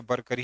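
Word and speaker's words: वारकरी: वैसे proper pronunciation तो बरकरी ही होगा।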